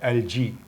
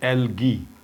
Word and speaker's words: algae: Word है वो है एलजी। इस वर्ड को इनफैक्ट 2 तरीके से प्रोनाउंस किया जाता है। इसको एज एल जी भी प्रोनाउंस किया जाता है और एलगी, दोनों प्रोनाउंसिएशंस सही हैं।